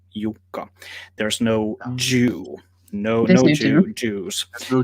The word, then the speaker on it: Jukka: It's Yuka. How do you pronounce it?